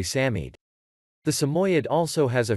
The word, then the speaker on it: Samoyed: the name of the samoyed is often mispronounced most people assume that the name of this handsome dog is pronounced samoyed but the correct pronunciation is actually samid the samoyad also has